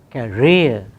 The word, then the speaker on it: career: Cartoon, career, occurs initially, but that part of the word does not carry stress. Stress is on the second syllable. So, only one condition is satisfied. So, we do not aspirate here.